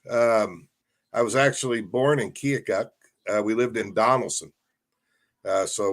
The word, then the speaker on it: Keokuk: Well, they always make fun of the L in their Keokuk, but then you got to spell it out to pronounce it correctly.